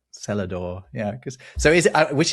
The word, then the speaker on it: Celador: of it, was called Celador, spelt Celador. Oh, that's great. Exact thing. And actually non-rhotic as well. They didn't bother with the R in the cellar. Celador.